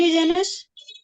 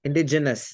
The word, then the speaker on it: indigenous: you'll get it right I'm pretty sure inde indigenous indigenous not genius genus indigenous so that's the pronunciation otherwise you will right indigenous so it